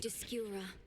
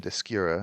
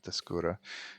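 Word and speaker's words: Descura: Discura. The witch's staff with me, my friend. Okay. Well, there's the pronunciation. Discura. I was right. Not Dura. Dura.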